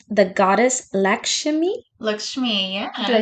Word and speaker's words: Lakshmi: Lakshmi, Did I yeah.